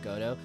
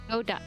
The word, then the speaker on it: Godo: pleasure from pronouncing it Godo. Well, it's interesting because so it's complicated because he's Prosecutor Godo in the Japanese version, but the name Godo is derived from the play Waiting for Godot.